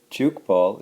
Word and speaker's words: Tchoukball: defense against an opponent juke ball is spelled TCH o UK ba ll so it's an interesting